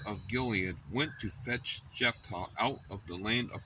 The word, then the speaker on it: Jephthah: And the elders of Gilead said unto Jephthah, that's how it's pronounced, there's H-T-H, Jephthah, the Lord be witness between us.